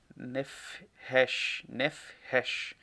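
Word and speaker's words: נפש: Então, aqui todo animal vivente, o original hebraico, ele fala sobre alma vivente, ou nefresh, nefresh, seria uma pronúncia melhor.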